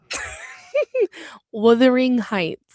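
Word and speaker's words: Wuthering Heights: Withering Heights.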